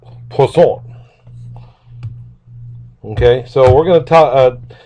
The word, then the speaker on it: Poisson: And this distribution is called the Poisson probability distribution, not Poisson. It's French, and I don't know that I pronounce it entirely correct, but it's somewhere along the line of Poisson.